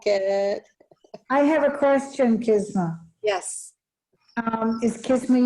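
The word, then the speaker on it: Qis-ma: q-i-s hyphen uh uh m.a but a phonetic pronunciation of kisma and it um it's an arabian moon goddess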